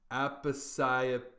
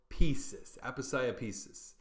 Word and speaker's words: Aposiopesis: Number 47, and this is a hard one to pronounce, is Aposiopesis. Aposiopesis.